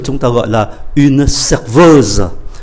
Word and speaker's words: serveuse: ta gọi là une serveuse. Và chúng ta để ý cách phát âm ở cái âm tiết cuối này, để cho phân biệt là phái nam hay phái nữ.